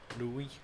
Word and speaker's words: Louis: friend of mine has got a son l-o-u-i-s okay and you pronounce Lewis okay but some sort of Americanized it don't they and call it Louie Tim there's that Tome